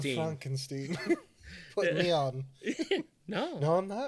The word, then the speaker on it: Frankenstein: He's like, Dr. Frankenstein. Yeah. Yeah. It's pronounced Frankenstein.